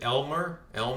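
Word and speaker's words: Aylmer: The small town of I think they pronounce it Elmer, Ontario. It's not. They spell it like with an A and then.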